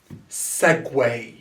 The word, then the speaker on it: segue: now to this one segway so the ue here are the spelled as way segway segway is the movement or